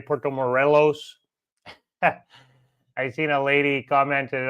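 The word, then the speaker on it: Puerto Morelos: I kept saying uh Porto Morales the whole time. So, I'm still learning, you know, like uh everybody else. Not perfect. Still learning. I kept pronouncing Porto Morelles wrong. It's actually Porto Morelos.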